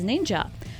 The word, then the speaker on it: ninja: usually referred to as ninja that's how the word shinobi is pronounced in the chinese manner this title gained its